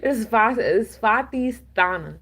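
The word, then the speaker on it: Svadhisthana: Um, this is the Svatisthana. I know I butchered that. It's Svatisthana.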